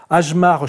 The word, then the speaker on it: Hjalmar: Et ce qui est intéressant, c'est que ce monsieur qu'on prononce Ajmar Chart, n'est-ce pas ? Enfin, qui s'appelle comme ça, mais ça se prononce Chart, oui. Ajmar Chart, nous raconte, en